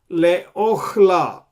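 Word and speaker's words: לְאָכְלָה: So this is Qamats. However, it is called Qamats qatan because we pronounce it as O, not A.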